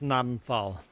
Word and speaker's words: Gnadental: And if you Google it, it's like Google tells you it's pronounced nadenthal. I'm like ganadenthal.